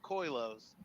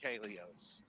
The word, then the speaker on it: Koilos: with your name because it looks like Coos but it's pronounced Kos and I took that